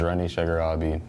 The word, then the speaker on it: Rani Shagarabi: Okay, so look into the camera, state your name, and spell it. My name is Rani Shagarabi, R-A-N-I.